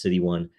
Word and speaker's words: 0xc1: Again, it's pronounced City 1.